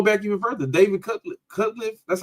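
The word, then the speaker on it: Cutcliffe: I even go back even further David cut cutliff that's how you say his name he kept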